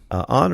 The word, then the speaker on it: Ayn: He knew Ayn Rand, and I hope I'm pronouncing Ayn, not Anne, Ayn Rand.